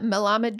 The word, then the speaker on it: Melamed: of the rpod my guest today is mamad did I pronounce that correctly you did which is quite